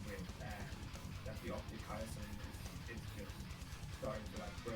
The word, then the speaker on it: chiasm: With this one, I said like I think I said like chiasm. It's like the working title. Then I how it's chiasm from Google.